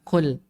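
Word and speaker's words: كُلْ: Antara qul sama kul. Saya ulangi. Qul sama kul. Bedanya, Pak. Ini kalau salah bacanya berubah artinya, Pak. Kalau qul qaf qul itu berkatalah. Kalau kul ada sedikit hamsnya. Kul itu makanlah.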